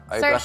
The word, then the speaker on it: Saoirse: Saoirse, it's perfect. Saoirse like an Arsha.